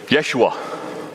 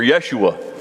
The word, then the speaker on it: Yeshua: know wait a minute we think jesus the way we pronounce it we're totally wrong totally wrong it was really joshua or yeshua was the name there pretty cool all